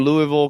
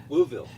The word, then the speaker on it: Louisville: Here in Louisville, Kentucky. So, did I say that correctly? No. Oh. Louisville. It's like one giant like Louisville.